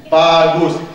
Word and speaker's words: bagus: So it's made up of two syllables. B-A-B-A-G-U-S, gus. Bagus.